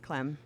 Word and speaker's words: Klemm: Uh, Clem. Yes. Is that how it's pronounced? I presume. Like it's spelled. Yes. Clem.